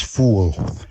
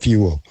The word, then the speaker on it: fuel: Clemmy, I think you were once criticized for pronouncing the word fuel as fool. Yeah. Fool. I can still remember that they vividly. Fool instead of fuel.